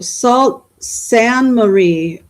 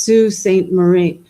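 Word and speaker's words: Sault Ste. Marie: It's actually pronounced Sue St. Marie.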